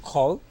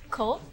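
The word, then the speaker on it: Koh: I'm Ko. Ko?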